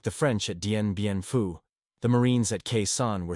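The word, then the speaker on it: Dien Bien Phu: I don't want any damn Dinbu, he reportedly told Joint Chiefs Chairman, General Earl Wheeler, mispronouncing the name of the famous French defeat. The comparison was apt. Like the French at Denbianfu, the Marines at Kesan were surrounded, dependent on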